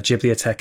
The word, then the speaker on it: Ghibliotheque: Ghibli Tech is spelt GHIBLIOTHEQUE.